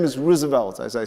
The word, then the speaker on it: Roosevelt: My first name is Roosevelt, as I said. And Roosevelt is a bastardized Dutch name, which in real sense is pronounced Roosevelt.